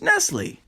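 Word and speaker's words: Nestlé: you even know that it's pronounced Nestle there's an accent but you cannot see but how I'll explain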